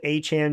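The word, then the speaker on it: Etienne: He said he's been It's been said wrong. It's supposed to it's supposed to sound like Devon Han's name is spelled so Travis Han Jr. when you hear me say that know that that's because he said that's the way to say it not because I'm thinking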